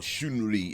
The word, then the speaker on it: Chun-Li: so here we have little chun li or shin li if you're chinese and no that's not racist that's how it's pronounced anyway she's just a